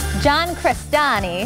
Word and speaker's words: John Crestani: John Crestani, how'd I do? Is it all right? You pronounced it right.